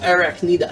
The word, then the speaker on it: Arachnida: Anaconda? Arachnida.